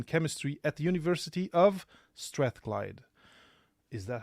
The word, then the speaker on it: Strathclyde: sponsored PhD in chemistry at the University of Strathclyde. Is that how you pronounce it?